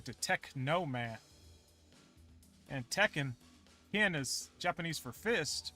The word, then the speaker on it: Tekken: this in the name tekken i know it's spelt t e c don't don't you know what don't embarrass yourself spell t-e-k-k-e-n it's like teca you know take a man blade